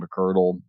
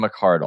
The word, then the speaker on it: McArdle: at the upside of down that that Megan mccurdle uh calls it is that how you pronounce her name yeah Megan McArdle I apologize I'm making orthogonal Megan liminal um